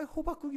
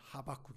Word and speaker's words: 하박국: 식으로 나왔나 봐요 아 호박국이 어디 있습니까 호박국이 아니라 하박국 있니다 하박국 성경 좀 보시기를